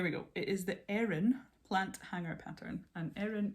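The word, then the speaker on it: Eryn: It is the Erin plant hanger pattern, and Erin is spelled E-R-Y-N, and it is by Through the Loop Yarncraft.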